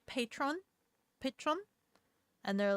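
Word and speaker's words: Patrón: Patron Patron Patron Patron the accent is on the bottle it wasn't in the script I think Spanish it's Spanish Patron P Patron Patron Patron patch Pon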